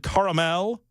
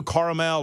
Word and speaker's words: caramel: mhm posties swirled salted caramel You Go caramel or caramel caramel caramel three syllables uh swirled salted caramel